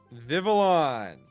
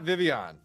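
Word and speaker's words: Vivillon: Vivolon, which is how you say that Pokemon's name, by the way. It is not Vivian.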